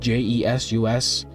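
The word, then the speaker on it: Jesús: My name is Jesus, spelled J-E-S-U-S, with a accent on the U. So the real way to pronounce it, or the official way, is Jesus.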